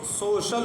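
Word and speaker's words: social: سوشل۔ اسی طرح آپ دیکھیں تو سوشل ہوا، سوشل، تو یہ بڑا شین پڑھا گیا کیونکہ سی کے بعد آئی اور اے ہے، سوشل۔ تو یہ آپ سمجھیں، اس طرح سے آپ تلفظ کریں گے، ٹھیک ہے؟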